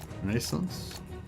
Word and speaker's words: Renaissance: Also, the stress is on the last A in the Renaissance. Renaissance?